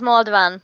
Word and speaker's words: Malden: your last name sorry it's pronounced Malden but I don't know if you can get the AA sound so okay so we